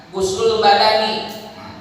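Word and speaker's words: غسل: Fal absohu fil lughaini adamu, maka yang lebih fasihat itu, lebih absoh itu, maka limnya dibacanya domah itu. Wakada guslul badani, termasuk dibaca domah itu ketika lafaz guslu disandarkannya dengan badan, guslul badani, maka bersama ini juga dibacanya domah.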